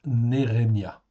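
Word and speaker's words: נחמיה: Ça se prononce Nérémia en fait ici.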